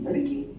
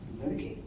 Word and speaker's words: Ladki: You know, so in mind, it's not like Ladki, it's Ladki. That is how I pronounce it in my mind, and you know, that might not come in the just to see the logo.